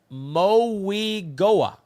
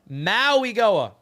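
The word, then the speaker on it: Mauigoa: Richie, he's simo and it's pronounced moiga. Moi moiga. All right. Moi Goa.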